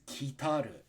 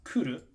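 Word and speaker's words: 来る: Number 9 is kitaru. This is only confusing because this can also be pronounced kuru or koru, depending.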